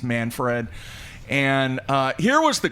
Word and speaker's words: Manfred: hopefully i'm pronouncing it it's either manfred or manford i think it's manfred and uh here was